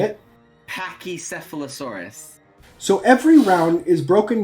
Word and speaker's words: Pachycephalosaurus: how to say it and so I said Packy and then her response was well that's the dumb way dumb down way to say it can we refer to Bob to actually how to say it Pachycephalosaurus so every round is broken down into five